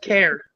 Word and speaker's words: Kerr: It's pronounced care.